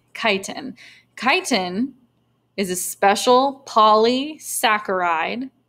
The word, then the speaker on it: chitin: It's not pronounced chitin, it's chitin.